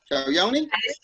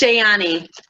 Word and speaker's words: Shayani: Let me see if I could pronounce the word Shayoni. Shayoni? It's Shayani. Shayani.